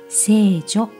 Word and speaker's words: 聖所: 目のテーマは聖なるところと書いて聖女と読みますがその聖所